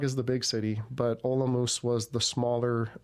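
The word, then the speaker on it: Olomouc: Um my favorite was in Olamoose. Uh some people pronounce it olok but it makes the people from Olamus makes their ears turn.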